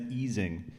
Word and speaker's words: Ising: a condensed matter person you pronounced ising correctly I never do that it's eing uh fun fact um